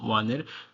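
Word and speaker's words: は: আমি এটাকে হা বলছি এখন জাস্ট তোমরা বোঝার সুবিধার, মানে তোমরা তো এটাকে হা পড়বা প্রথম নতুন নতুন সবাই। আসলে এটা হচ্ছে হা না, এটা হচ্ছে ওয়া।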